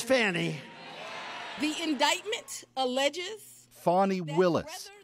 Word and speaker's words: Fani: You have a woman named corrupt Fani Willis. Fani. Donald Trump mocks her relentlessly here at a campaign rally last weekend. I believe it's spelled F-A-N-I. To my way of thinking, that's Fanny.